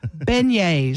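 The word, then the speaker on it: beignets: Beignes.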